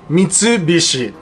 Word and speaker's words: Mitsubishi: of course Mitsubishi in Japanese law we say Mitsubishi it literally only breaking apart into three parts